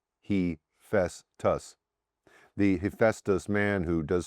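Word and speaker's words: Hephaestus: Heestus is pronounced he fesus.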